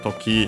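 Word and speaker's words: 時: Means toki, time, hour, moment, occasion, case, accent on the last syllable on its own.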